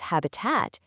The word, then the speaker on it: habitat: You can see it right here with habit. That's a short i, but when the word is habitat, the sound becomes a really gentle uh. Habit, habitat. The vowel just kind of relaxes into a schwa.